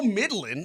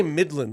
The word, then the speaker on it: middling: You say Midland, like the city in Texas. Middling. Okay. Midland. You're pronouncing it Midland.